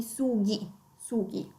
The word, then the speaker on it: sughi: per esempio, che hanno per mantenere il suono duro della G, allora devono mettere la H tra la G e la I, ok? Quindi sughi.